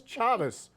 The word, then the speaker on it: Chavis: I asked you to look it up, and it's Chavis. Chavis. So it's Malik Chavis, not Malik Chavis. Yes. Chavis is what the pronunciation thing says.